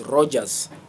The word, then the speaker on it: Roger: If somebody says Rogers, that is not my name. My name is Roger. It's R O G E R. The pronunciation in the dictionary sometimes. Uh yeah, it is Roger. Roger. I see there's a there's a British pronunciation, English, and then there is American pronunciation. So even the French will say Roger Roger. And so um it is good to respect the truth. There's no s in my name.